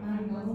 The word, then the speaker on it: 난징: 그럼 남경을 한자로 읽으면 남경. 난징이라고 읽어요. 난징. 많이 들어봤죠, 난징이라고. 네.